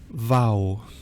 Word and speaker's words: V: So in my head I always say Vau, V, and then I remember that Vau is V and V is W.